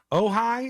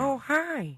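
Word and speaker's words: Ojai: Ohigh is how you say it. Maybe it's a city in California. Ohigh. Just for the record. OJ AI.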